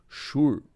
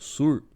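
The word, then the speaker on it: שור: E é interessante, irmãos, que aqui, ó, a palavra sur, né, que no hebraico ela se escreve assim, shur, né, que aí no português é traduzido como sur.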